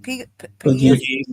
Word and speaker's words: Pegues: Okay, JJ, how you pronounce it? Pegues.